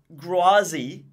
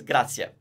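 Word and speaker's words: grazie: follow what you're saying there is no point going around saying grazi if what you're supposed to say is Gracia now of course you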